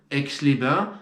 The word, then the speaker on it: Aix-les-Bains: Comme toute règle parfaite, il y a quelques exceptions. Aix-les-Bains, Servoz. Voilà.